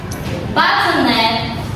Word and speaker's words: bâtonnet: Bâtonnet, pronounced by bâtonnet, is creating a rectangular stick that measures 1.5 inch times 1/2 inch and 2.5 inch to 3 inch.